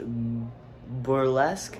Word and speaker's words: Burlesque: After that ice cream, we watched Burlesque, that's how you say it.